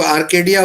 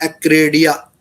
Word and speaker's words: Acradia: बहुत से लोग आर्केडिया बोलते हैं, लेकिन एग्जैक्ट वर्ड है एक्रेडिया, ACRADIA, एक्रेडिया 1 international investment company limited.